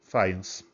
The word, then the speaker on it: Fajans: Por isso que tem que falar fence, pessoal. Em polonês, o J tem som de I. Bem, então pronúncia correta finance.